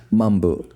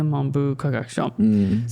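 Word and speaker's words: 文部科学省: Monbu Kagakusho, is that how you say it? Monbu Kagakusho, okay. What did I say? Mambu. No, Monbu.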